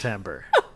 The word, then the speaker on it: Timbre: Are you really sure it's Timbre? I swear that's an I, though. I'm positive it's pronounced Timbre.